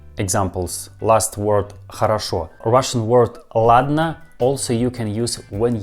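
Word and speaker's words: ладно: i mean first two letters or but we pronounce these two letters all like next russian word ladner ladna probably you didn't know about this russian word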